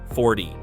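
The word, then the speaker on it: forty: In 40, the stress is on the first syllable, 40.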